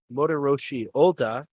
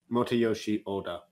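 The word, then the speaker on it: Motoyoshi Oda: uh directed by uh motor roshi Oda and uh the movie I'm pretty sure you mispronounced his name but I will okay how would you pronounce it Mota Yoshi Oda that's what I said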